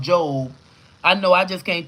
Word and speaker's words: Job: She said, Job is pronounced Job.